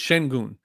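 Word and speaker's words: Şengün: The H is silent and non-existent in his name. So it's Shengun, because it's something with the E. The E has like one of those little funky little things up at the top of it that makes. Oh, the E's got the sign to pronounce the H.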